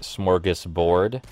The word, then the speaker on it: smorgasbord: with also yes i know the word is smorgasbord i'm aware that's how you say it i'm